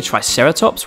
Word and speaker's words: Triceratops: who do we have with us today triceratops try sarah tops can you say it with me try sarah